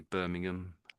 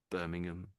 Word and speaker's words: Birmingham: the American way, but the Brit the Brits don't really say that. We say Birmingham. Birmingham. You don't really don't really hear the ham properly.